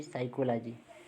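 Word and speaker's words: psychology: प है ठीक है ए से पहले प है तो भी व भी साइलेंट हो जाता है जैसे साइकोलॉजी हमने प का प्रंट नहीं किए प को छोड़ दिए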